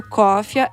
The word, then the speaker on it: Coffea: O Cofia começou com PayPal e PagSeguro e continua lá no ar, então os meus assinantes continuam lá.